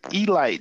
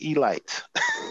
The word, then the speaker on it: Elite: team called the baltimore e-light giants spelled elite but it's pronounced e-light that's important don't be a rookie pronounce it e-light okay okay so what's